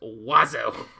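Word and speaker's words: oiseaux: It's pronounced wazo."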